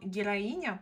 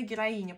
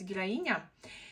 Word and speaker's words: Героиня: это бренд Называется он героиня по-моему или героин но по-моему правильно героиня потому что меня как-то в комментариях поправляю что правильно говорить героиня В общем данный аромат